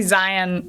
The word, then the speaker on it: Zion: zion i mean zion i think it's supposed to be zion like lion right and hurricane like